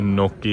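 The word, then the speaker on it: gnocchi: खाना आ गया अपना, ये नोकी है, जिसको अगर आप स्पेलिंग देखोगे तो जी से स्टार्ट होता है, बीच में एच भी आता है, लेकिन प्रोनाउंस नोकी करते हैं।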